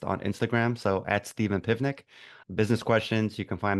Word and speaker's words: Pivnik: Pivnik. What a great friggin' name. Rhymes with picnic basket, but it's not. It's a V, people.